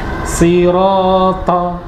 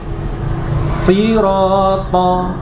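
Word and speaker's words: صِرَاطَ: Sirata tidak tepat. Sirata tidak tepat. Sirata ini baru benar.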